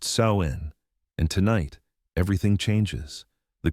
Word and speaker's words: Samhain: This is Sam Huan, pronounced Sain.